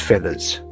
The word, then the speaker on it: FEVVERS: Then came FEVVERS, spelled FEVVERS, but pronounced feathers, a plant-based plume that prove sustainability can still feel and look just like fantasy.